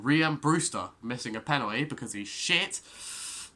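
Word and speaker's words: Rhian Brewster: that was because of ruin breester that's not how you say his name rian brewster missing a penalty because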